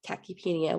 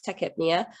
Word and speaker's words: tachypnea: want to call it i like to say the tachypenia just because it helps me spell it out and then i can recognize it but i know it's techhypnia um and that's the